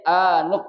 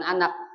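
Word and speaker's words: آنُك: Ya, makanya dibacanya anuk, bukan anik, bukan anak. Wal anuk, ya, coba.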